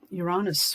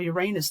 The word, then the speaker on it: Uranus: down, we had Mars opposite, forming opposition to Uranus, or Uranus, depending how you say it.